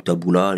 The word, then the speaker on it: Tabula: te connaissent pas oui je m'appelle mbkabula ou Taboula les deux prononciations se valent j'ai 32 ans je